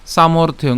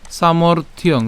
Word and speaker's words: সামর্থ্যং: তব নিন দন্নতস তব নিন দন্নতস তব সামর্থিয়ং সামর্থ্যং উচ্চারণটা কিভাবে সামর্থ সামর্থিয়ং তাহলে সামর্থ এই মর্থ অর্থাৎ এই রেফ এবং